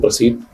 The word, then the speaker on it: प्रसीद: कमले कमलालय प्रस प्रस कई बार लोग प्रसीद का उच्चारण प्रसी प्रसीध कर देते हैं आधा ही बोल देते हैं आधा नहीं बोलना है आधा शब्द नहीं है पूरा शब्द है तो ओम श्री कमले